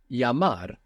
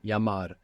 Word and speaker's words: llamar: Llamar in Spanish is to call or to phone, to telephone. Llamar. El, which we said is pronounced like Y in most of Spanish-speaking world.